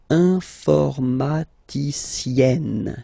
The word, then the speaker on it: informaticienne: And you get the sound informaticienne. Sienne. Remember E and then double N, or then it could be double L or double consonant here. You open your E, so it's E. Informaticienne.